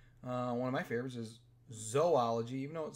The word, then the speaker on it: zoology: One of my favorites is zoology. Even though it says zoo, it's pronounced zoo.